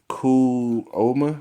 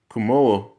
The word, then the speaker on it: Cuomo: New York Governor Andrew Cuomo, I don't know how you say his name, Cuomo, I believe that's how you say it, has ordered the state